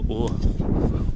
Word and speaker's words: Ur: Welcome to the Ziggurat of Ur. That's the way you pronounce it, eh? Ur? Ur.